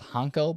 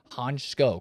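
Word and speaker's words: Hancko: which by the way, it looks like it's pronounced Honko, but I've been told it's Honchko, kind of like an S.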